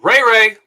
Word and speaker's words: Ray-Ray: weeks go on first i believe it's pronounced ray-ray okay sorry uh but